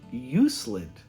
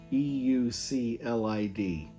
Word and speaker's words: Euclid: For example, I was pronouncing Euclid, E-U-C-L-I-D, as Euclid, and in a very nice way he said it is pronounced Euclid, after a Greek mathematician.